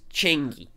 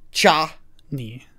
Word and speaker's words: Chani: Which is why we need to give him more time with Changi. You're still saying it. It's you're saying it wrong on purpose. How am I supposed to say it? Cha? Cha-ni. Chani. Sure.